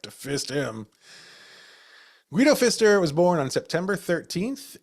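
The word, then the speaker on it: Guido Pfister: Guido Fister was born on September 13th, 1818 in Henjin, Germany.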